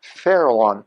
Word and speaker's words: Farallon: Farallon, exactly the way it's pronounced, Farallon.